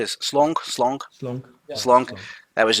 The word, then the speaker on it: Slonk: Did I pronounce that correctly? Is Slonk? Slonk? Slunk.